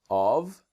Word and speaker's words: of: now they're quite different of has like a v sound normally and then off now when we pronounce quickly the word of can become a just like our little friend word schwa it's like ah now let's be clear